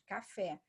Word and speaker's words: café: É o caso de café. O café é a última, então aqui é oxítona.